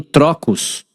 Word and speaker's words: trocos: Então aqui eu tenho trocos. Então aqui, ó, eu só vou colocar o acento em cima para você entender, tá? Trocos.